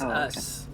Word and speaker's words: Us: another fight let's go what if it's actually pronounced oo now he actually pronounces it for us he says us we are us ow